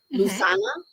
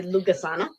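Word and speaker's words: Lughnasadh: And they're telling me in my head, I always say this one incorrectly, because it is the celebration of the god Lu, Lusana. I actually always say Lugasana, because that's how it's spelled, Lucasana.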